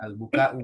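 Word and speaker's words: البكاء: Istiqnaf in itu harfu syartin azza fil madi alaika jar majrur al bukaa maf'ul Buka'u, bi bacanya al-buka'u.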